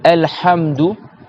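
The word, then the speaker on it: الحمد: Quand tu dis Alhamdu, Alhamdulillahi Rabbil Alamin, tu dois resserrer le milieu de ta gorge ici.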